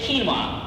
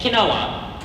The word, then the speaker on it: quinoa: Now, some people might say quinoa, and other people might say quinoa, and other people might also say quinoa. All these three are perfect pronunciations for the same word, but they're just different variations.